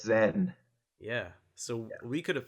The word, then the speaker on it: Zain: if I'm wrong, but it's not actually pronounced Zane, right? That's right. Yeah, it's Zen.